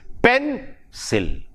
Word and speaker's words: pencil: Whereas in pencil, we have two syllables, the stress is on the first syllable, that is pencil, pencil.